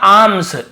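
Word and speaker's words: alms: फॉर आर्म्स, L silent होता, आर्म्स यानी होता है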